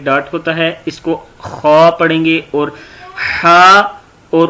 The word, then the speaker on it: خا: اس کو خوا پڑھیں گے. اور ہا اور خوا ان دونوں میں فرق ہوگا. ہا الگ لفظ ہے اور خوا الگ ہے. خوا کو تھوڑا سا موٹا پڑھتے ہیں.